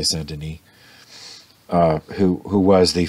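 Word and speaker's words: Denis: a devotion to saint well it's spelled dennis d-e-n-i-s i suppose the french would say santini uh who who was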